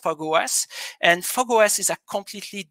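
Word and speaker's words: Fog05: It's written 05, what is pronounced FogOS.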